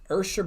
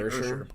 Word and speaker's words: Usher: no, I honestly don't think so because he is talked about on shows and they make sure that they say Ursher. Yeah. Why Ursher? It must be a weird pronunciation.